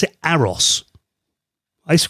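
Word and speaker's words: AROS: This is an operating system that is called um I believe you pronounce it Aeros. I used to call it AOS, but someone corrected me once. It's not A-OS, it's Aeros.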